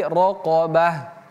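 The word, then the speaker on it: رَقَبَةٍ: Qof tebal roqo bukan roqo tapi roqobah.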